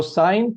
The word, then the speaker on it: sine: the first one is sine. This function is pronounced as s right in short it is written as s i n. So don't read it as don't pronounce it as sin.